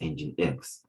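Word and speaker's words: nginx: be the web server the website while using engine x pronounced as engine x right so we also have men administration which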